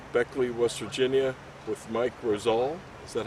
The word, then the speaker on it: Roselle: right outside of Beckley, West Virginia, with Mike Roselle.